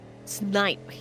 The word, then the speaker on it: Snipe: Snape, or what was the pronunciation again that time? Snipe? Snipe, yes. Okay.